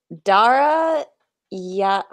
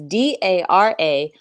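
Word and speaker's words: Darayavahush: So it's Dara Yavahush. Definitely not pronounced that. It's DARAYAVAHOUSH.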